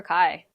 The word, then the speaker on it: Ky: Although sometimes um my name sounds like the word hi or it sounds like something else and so people don't hear right away. It is one syllable and it's hard to detect sometimes. Like Kazzy is like two syllables and very distinctive to your name. Mine sounds like hi, my dry, bye.